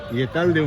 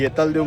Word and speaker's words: येतालदेव: वेतोबा मंदिर म्हणून आमच्यामध्ये येतालदेव म्हणतात यस भूतांचा राजा आमच्या कोळी भाषेनुसार आम्ही येतालदेव म्हणतो जे कोळी भाषेच जे प्रोनन्सिएशन आहे त्या पद्धतीने चला एक नंबर सावली भेटलेली